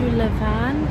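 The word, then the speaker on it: Levain: blazer is so cute as well going to Levan Bakery that's how you pronounce it because I've heard their cookies are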